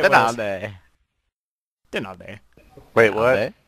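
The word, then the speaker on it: Donaldi: Nalde. Nalde. You said it wrong. Nalde. Danalde. And we also nicknamed him Danalde. it's not even a nickname. That's actually how my parents pronounce it. Danalde. So when you come on the server, be sure to tell LG he's Nalde. It's Danalde. D-O-N-A-L-D-I. Danalde.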